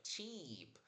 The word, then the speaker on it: cheap: Repara na pronúncia aqui, ó, cheap. Abre a boca lateralmente, aperta a língua contra o céu da boca para aquele som bem longo de i.